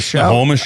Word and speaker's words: Snohomish: Snohomish.